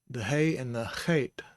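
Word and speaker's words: חית: But otherwise the hay and the chet look much alike. And we pronounce this chet. This is a sere, so it says the long A sound.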